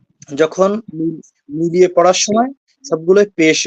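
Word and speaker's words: ث: তো উচ্চারণ করলে আপনারা সঠিক উচ্চারণ শিখতে পারবেন না। জি, এখন আমি সাটা পড়িয়ে দেবো 3 বার, এরপরে আপনারা বলবেন। আচ্ছা, জিহ্বাকে সামনের যে 2টা দাঁত আছে ওর সাথে মিলিয়ে হালকা করে ছেড়ে দিবেন।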